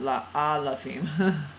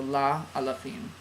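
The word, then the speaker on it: לאלפים: I said la alafim, la alafim. Yeah, not la alafim. Yeah, okay, so la alafim.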